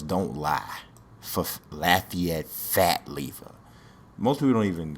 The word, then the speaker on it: Lever: on it so and his lever not lever even though it's it's spelled like it's lever but you know how